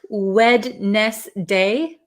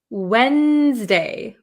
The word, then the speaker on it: Wednesday: so it looks like wedness day wedness day but uh at least I pronounce it Wednesday Wednesday Wednesday so I kind of take the D sound out Wednesday okay I think